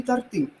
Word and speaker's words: торты: Торты или торты. Мы обычно говорим, частенько мы, по крайней мере, мы не говорим, но мы частенько слышим, что люди говорят торты. Но правильно говорить торты.